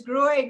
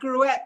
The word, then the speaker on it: Gruet: So we just want to let you know that it's Gruet, not Gruet. The T is silent.